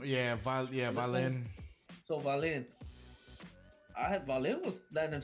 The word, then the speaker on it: Wallin: It starts with a W, but they pronounce it with a V. Yeah, Wallin.